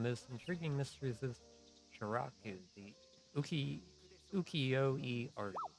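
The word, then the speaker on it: Sharaku: Researching Edo period publishing, and one of the most intriguing mysteries is Shiraku, the ukiyo-e artist. I think that's how it's pronounced.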